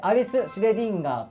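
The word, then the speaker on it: アリス・シュレディンガー: あはいはいはいでアリスシュレディンガーと読むへえアリスシュレディンガーの推理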